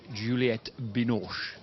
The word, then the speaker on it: Juliette Binoche: 30 today sara has just been to see Juliette Binoche getting my pronunciation right thing that's correct I called a